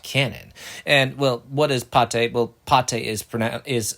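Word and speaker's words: Pathé: Studio Pate bought Canon and well what is pate well Pate is pron is spelled p a t h e I actually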